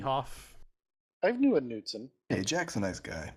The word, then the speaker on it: Knutson: Hugo Nutson. Come on. No, Knutson. It's Knutson. Oh, I'm sorry. K is silent.